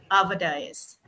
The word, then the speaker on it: Dias: It's Ava Dias. Ava Dias. Okay. Ava Dias. Oh, I always said Dias. Oh my God. Yeah. Dias. Right. Dias. Ava Dias. Yeah. That's the Hawaiian pronunciation you use.